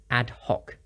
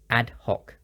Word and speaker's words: ad hoc: phrase ad hoc basis the pronunciation is quite easy but the C is hard so it's pronounced ad hoc ad hoc some examples we'll deal